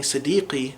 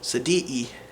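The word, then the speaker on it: صديقي: start to recognize, oh, whenever a word that has qaf, it's pronounced with an epiglottal stop, and then from then on out you're going to be able to understand them very clearly. So instead of saying sadiqi, they might say sadi'i, and it's not going to be a problem.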